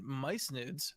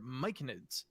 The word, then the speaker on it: Myconid: And then Mycenids are Myconids. No, I know. Myconids.